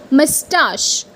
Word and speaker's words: moustache: And the correct pronunciation is like mustache.